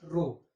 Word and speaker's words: rho: ये एक Greek letter है रो.